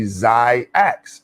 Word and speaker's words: XYAYX: Let's get into the phonetics, like xylophone. And in the X, if you put AY together, the Y is silent. And so it's technically XYAYX.